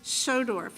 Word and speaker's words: Schodorf: a closing statement my name is schodorf and I say that because it's difficult to un to pronounce but I am from Independence and I